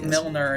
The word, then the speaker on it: Milner: player i don't know why he said yes milner is the correct pronunciation but they have very similar names which